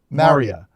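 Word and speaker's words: Marya: Is that how you pronounce her name? M A R Y A. Is it Maria? Maria.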